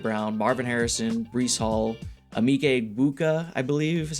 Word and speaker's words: Emeka Egbuka: We got Mayfield, Barkley, Kyron Williams, AJ Brown, Marvin Harrison, Breece Hall, Emeka Egbuka, I believe is how you pronounce it.